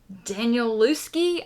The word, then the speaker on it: Danielewski: So in the month of November, I called it quits on House of Leaves by Mark Danielewski, I believe is how his last name is pronounced.